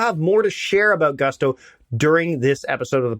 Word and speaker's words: Gusto: Gusto now what is Gusto well it rhymes with Musto or rusto as in let's do